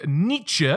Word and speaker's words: Nietzsche: look at today is this mustachioed man named Nietzsche that is how you pronounce his name one of the goals on